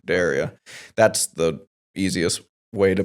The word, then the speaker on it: Derya: But we actually, the easiest way to pronounce it is Derya. So Derya, like I dare you to, Derya.